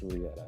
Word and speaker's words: Rieta: try to make sure they know that it's Rieta and stuff.